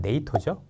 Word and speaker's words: 나토: 조금 더 넓게 보면 더 이상 서방 국가가 동진을 안 했으면 좋겠다라는 거고 그 상징으로 우크라이나의 사실은 네이토죠. 발음으로 보면 예, 죄송합니다. 나토가 아니라 그죠?